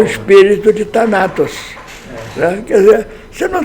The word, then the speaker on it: Thanatos: É Thanatos ou Thanatos? É Thanatos. Thanatos.